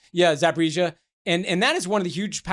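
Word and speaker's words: Zaporizhzhia: pronounce it right. Yeah, Zaporizhia.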